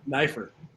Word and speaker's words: Neiffer: how do you say your last name again knifer Neer got it momy I want a